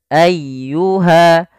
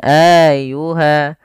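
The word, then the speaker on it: أيها: jelas dan tidak ditahan Ayuha tekan laf y jangan Ayuha jangan auha atau juga memanjangkan Anya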